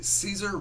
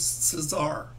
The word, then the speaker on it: Cesar: I actually had it had I've always pronounced it se Caesar Romero, but I heard it was Cesar.